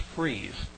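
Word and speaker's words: frieze: has that famous and it's spelled f r i Ze and I think it's pronounced freeze that was similar to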